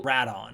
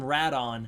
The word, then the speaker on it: Rodan: i'm going to call rat on right because that's kind of the other pronunciation for rodan i'm going to call him radon because there's a distinction